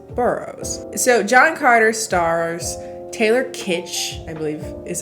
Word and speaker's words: Taylor Kitsch: So John Carter stars Taylor Kitsch, I believe is how you pronounce that, in the title role, Lynn Collins,